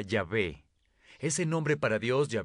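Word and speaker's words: Yahweh: a ustedes éxodo 314 en hebreo yo soy se pronuncia ya ve ese nombre para dios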